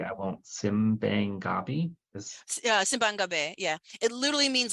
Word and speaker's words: Simbang Gabi: One of the, I guess it's a tradition, and you'll get the pronunciation correctly. I won't. Simbang Gabi is Simbang Gabi, yeah.